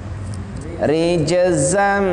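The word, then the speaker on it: رِجْزًا: Maka jim ketika kita qalqalahkan rij, sedangkan za itu tidak qalqalah. Rijzam, karena di sana ada tanwin bertemu dengan mim, jadi bacanya rijzam.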